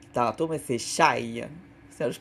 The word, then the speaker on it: chaille: Alors, dans la chaille, j'ai dit shale tantôt, mais c'est chaille. Ça, je prononce comme du monde, il y a un E.